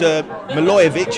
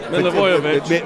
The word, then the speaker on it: Milivojevic: I forget who, I think it was Milojevic, I think, who put the ball through. Milivojevic. Yeah, that's how you say it.